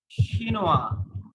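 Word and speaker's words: chinois: শিনোয়াস, ই যোগ করলে তখন এস পর্যন্ত উচ্চারণ হবে, আর জি ই যোগ না করে এসটা হচ্ছে ফাইনাল লেটার। তাহলে এখানে শিনোয়া, কারণ ফাইনাল লেটার আমরা উচ্চারণ করি না, এখানে ফাইনাল লেটার চিনোয়া হচ্ছে এস, এখানে ফাইনাল লেটার ই ও।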